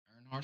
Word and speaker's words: Earnhardt: Earnhardt series. Oh, Earnhardt.